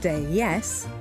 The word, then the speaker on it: DS: Pronounced déesse, a pun on the word in French for goddess, how appropriate.